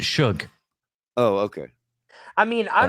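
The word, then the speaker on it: Shough: He pronounces it Shug.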